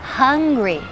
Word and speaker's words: hungry: To be hungry. Hungry. Y pronunciamos la H exhalando.